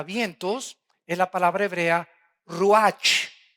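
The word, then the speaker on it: רוּחַ: es la palabra hebrea ruach con ch al final que se pronuncia ruaj que se traduce espíritu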